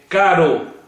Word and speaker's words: caro: seu som orientações básicas existe diferença na pronúncia entre palavras com um r 2 é por exemplo com é caro com dois erres carro como é ter a com dois erres terra se lá mas com um